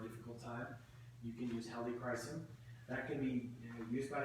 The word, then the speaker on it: helichrysum: So helichrysum, that's how you pronounce that.